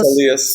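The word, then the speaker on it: Syleus: satire play like Euripides' Silius. And is that how you pronounce it? Silius? Silas? Silius, yeah. Silius, which features the buffoonery of Heracles.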